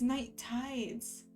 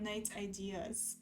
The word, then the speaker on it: Night Tides: Oh, it's Night Tides, not Night Ideas.